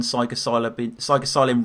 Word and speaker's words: psilocybin: The shit you write is like Sun Tzu on psilocybin mushrooms or Percocets.